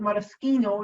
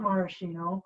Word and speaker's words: maraschino: italy also produces it the reason we call it matasquino is because guess what in italy the ch is like a k okay so it's not maraschino like the cherry although it's cherry liquor